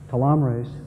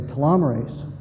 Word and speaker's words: telomerase: These are the same people, by the way, who say telomerase, even though they say telomere.